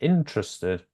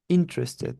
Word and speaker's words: interested: the second syllable in no it's on the first I think let me just check yes it's on the first syllable interested interested okay good guess though